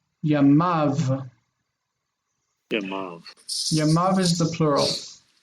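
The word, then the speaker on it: ימיו: But when we have his days, we have the final syllable, the accented syllable, and this is near, and near is long. So it's near. So it's we pronounce it Yamav. Yeah, Yamav.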